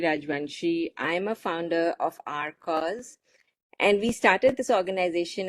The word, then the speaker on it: R Coz: It's your host Poonam here with a very special guest, Rupali Rajvanshi, the founder of the nonprofit named Our Cause. And it is spelled as letter R, COZ.